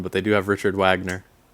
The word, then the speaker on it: Wagner: Oh, they don't got Lost Beethovven in this one, but they do have Richard Wagner. Oh, there you go. Um, it's pronounced Vagner.